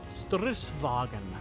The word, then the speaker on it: stridsvagn: Vagon is pronounced like wagon, but without the o and a normal V (victory) an S in between. Strith's-wag'n I already knew that.